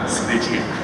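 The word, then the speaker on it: Sgriccia: And when we were shooting it, Phil, our director, Snitchy, as his last name I think is pronounced.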